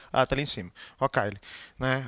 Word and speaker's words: Rocaille: Rocaille. Né? Rocaille, mas não pronuncia desse jeito. A pronúncia francesa seria Rocaille.